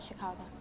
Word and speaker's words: Chicago: Chicago to me outside Chicago we roamed all around it's the emphasis on the second Sy borrowed from the French so this mimicry that